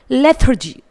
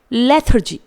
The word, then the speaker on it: lethargy: यहाँ पर हम टंग के अंदर आर को रोल्ड अप कर रहे हैं, तो कुछ इस तरह से हम वर्ड्स को दो एक्सेंट में प्रोनाउंस कर सकते हैं. दोनों ही आपके करेक्ट हैं.